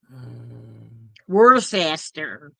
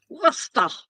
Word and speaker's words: Worcester: Worcester. as most people pronounce it when they see it. I don't want you to know. Or Worcester. Nope. Worcester.